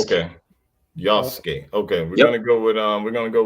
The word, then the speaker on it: Yasuke: You don't pronounce the U. Yasuke. okay, Yasuke.